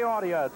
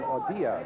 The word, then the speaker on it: Audia: His grandparents on his father's side, both from Italy, and pronounce their name Audia, but he prefers to be called Audia.